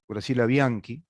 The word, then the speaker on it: Bianchi: Hablábamos con la doctora Graciela Bianchi, es decir, en italiano se pronuncia así.